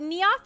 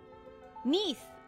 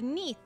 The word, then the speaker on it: Neath: Is it Naoth or Neath? I'm assuming it's pronounced like Naoth. A giant cave. Neath. Okay, the Neath. A tailor. My family kept a tailoring shop with aspirations. Short for underneath.